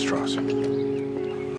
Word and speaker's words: Strauss: It's pronounced Strauss.